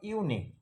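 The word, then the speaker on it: unique: অর্থাৎ ইউ শব্দের শুরুতে ইউ যদি থাকে এবং ইউ এর পর একটি কনসোনান্ট থাকবে ও একটি আই থাকবে, একটি কনসোনান্ট ও একটি আই থাকবে, কনসোনান্টের পরে আই থাকবে, তাহলে ইউ এর উচ্চারণ ইউ এর মতোই হবে, আ হবে না।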